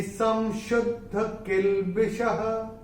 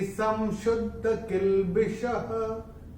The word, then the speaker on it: संशुद्ध किल्बिषः: तो चरण की समाप्ति पे जब विसर्ग आएगा तो उसका उच्चारण केवल और केवल ह ही होगा। योगी संशुद्ध किल्बिषः, ऐसे योगी संशुद्ध किल्बिषः, ऐसे करके आएगा।